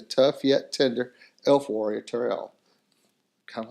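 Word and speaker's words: Tauriel: I think that's how you say it, Toriel.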